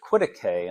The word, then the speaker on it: Quitaque: Once we got into Quitaque, and I'm I'm hoping I'm pronouncing that right. It doesn't look like it should be pronounced that way, but that's what I've heard it's pronounced, so once we got